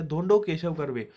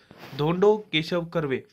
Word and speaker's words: धोंडो केशव कर्वे: 1958 में जो दिया गया वो दिया गया धोंडो केशव कर्वे, धोंडो केशव कर्वे, जी हाँ इनकी प्रोनाउंसिएशन होगी इनके नाम की, धोंडो केशव कर्वे, इनको महर्षि कर्वे भी कहा जाता है, एक बहुत बड़े सोशल रिफॉर्मर थे।